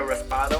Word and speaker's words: raspado: to me what a raspado was, and I was Say like, right. Raspado. See, you gringify it. Raspado. Raspado. Close enough, because you can't roll your R.